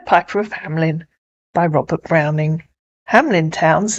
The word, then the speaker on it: Hamelin: I was a child the P Piper of Hamlin yes I know it's not pronounced like that in Germany but that's what we were taught at school as children in England on my new channel